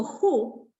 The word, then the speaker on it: who: Fíjense que si yo pongo who, que se escribe con W, pero no suena W.